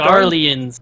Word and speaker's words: Garlean: That's not pronounced Garleans. Garleans? Like so garlic and lions.